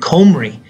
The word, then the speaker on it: Cymru: its own Welsh language it's called Kumari okay and that's about cymru so it's kind of reverse of what you would think that comer e is how you say the country's name in welsh and the capital is